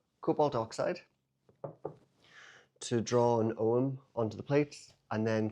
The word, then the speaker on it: Ogham: So, what I'm going to do with these is I want to use cobalt oxide to draw an OM onto the plates and then clear glaze the whole thing.